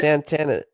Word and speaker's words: Santana: Santana building how we doing how we doing Santana did did I pronounce your name right yes sir yep you